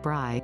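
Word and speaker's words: braai: chargrilled over a Bry an Afrikaans word for barbecue that is pronounced Bry sourced The Guardian the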